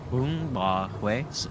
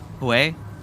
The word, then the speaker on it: Bún bò Huế: Sounds like you're saying way. Yeah, but with an H. It's like way, but with a H instead of a W.